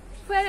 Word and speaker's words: where: ডাব্লিউ এর পর এইচ থাকলে এইচ এর উচ্চারণটা হবে না।